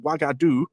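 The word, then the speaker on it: Uagadou: the name is pronounced wagadu as I've been pronouncing it which just so happens to be identical to the kingdom of wagadu the name given for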